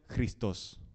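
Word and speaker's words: Χριστός: que significa ungido y en realidad en griego se pronuncia cristos no y en hebreo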